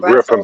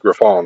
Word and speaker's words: Griffon: this is a Brussels you call it Griffin but exactly pronounced Griffon right oh yeah yeah Brussels